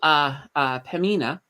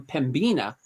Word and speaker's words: Pembina: There's also Pemina. So Pemina Pipelines, I was calling them Pembina, but apparently the B is silent. And somebody let me know. They let me know in the comments, that B is silent.